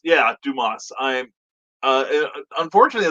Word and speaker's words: Dumas: and christian basil dumbass it's french brian pronounced dew moss or yeah it would be dumas yeah dumas i'm uh unfortunately it's